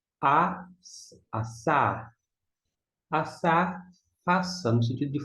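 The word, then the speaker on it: עָשָׂה: Mais um com Ain, que não tem som, pega o som emprestado do Kamitz, A, aqui é um S, A, e o Re não se pronuncia. Assar.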